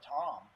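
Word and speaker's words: Tamm: uh touring Pro Albert Tom um it's not Tam it's Tom really yeah t but it's also has two M ah he's Estonian so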